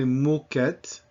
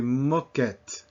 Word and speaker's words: moquette: We don't say moquette, we say moquette, moquette meaning carpet.